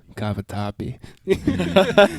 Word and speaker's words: cavatappi: It's a perfect amount of cheese, the perfect amount of richness, and also this noodle is what I was pronouncing it wrong. Cavatappi.